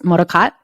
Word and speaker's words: MODOKOT: company that's based in San Francisco and it's pronounced moroccat so perfect Avery I love love love hearing